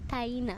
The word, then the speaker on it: Taina: The last name was right. The first name was interesting. It's actually Taina.